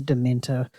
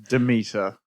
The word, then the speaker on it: Demeter: And Dracula, The Last Voyage of the Dementor with 6.5 million. Demeter. Oh, did I say Dementor?